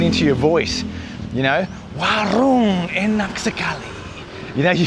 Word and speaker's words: warung: Yeah, getting back to the rolling of the r, you get people going, "Oh, warung." Yeah, like that. And it's like, "Uh you don't have to roll your r that much, mate."